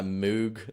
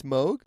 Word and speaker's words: Moog: and I had my moo little fatty or Moog you would say on the stage I thought it was Mo it's Moog it's actually Moog uh contrary to popular